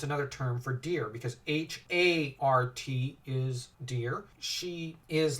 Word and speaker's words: Hart: Because Hart, the way it's spelt, I know the way it sounds is like heart, like, someone's heart.